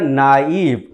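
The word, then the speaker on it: naive: मुंह से भी इसको पढ़ते नेव, नेव, दैट इज रॉन्ग प्रोनाउंसिएशन, इसको हम लोग क्या पढ़ेंगे डियर, नाइव।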